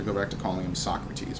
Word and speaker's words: Socrates: And then after this, I'm going to have to go back to calling him Socrates, because that's how it's pronounced in English.